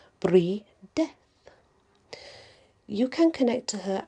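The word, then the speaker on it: Brydeth: now the is called breedeth breedeth b r y d e t h he puts it's pronounced b-r-e-e-d-e-a-t-h free death you can connect to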